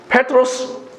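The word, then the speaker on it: Πέτρος: 정확하게 헬라어로 발음하면 페트로스입니다. 이 페트로스, 여러분들 나뇌주에 나와 있는 것처럼 반석이라는 뜻입니다.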